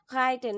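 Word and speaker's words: reiten: রাইটেন মানে হচ্ছে রাইটেন, এটার উচ্চারণটা এরকম হবে।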